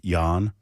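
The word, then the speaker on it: Jann: is spelled Jan but they pronounce it yawn oh and yeah I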